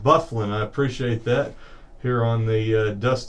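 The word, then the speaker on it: Byfuglien: by hijack that the guy's name is pronounced bufflin I appreciate that here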